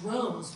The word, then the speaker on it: Droz: Droz, okay, so I had that a little bit wrong. Droz Marketing. No, that's D-R-O-Z. D-R-O-Z. Okay. Rhymes with rose, just doesn't smell as sweet.